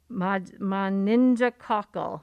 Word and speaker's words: meningococcal: The essence of it is the same, except that there's the addition of the, I gotta pronounce this, meningococcal.